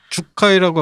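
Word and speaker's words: 樹海: 그 주카이라고 아까 일본 말로 주카이라고 발음했는데 이게 한자로 수해, 아오키 가라.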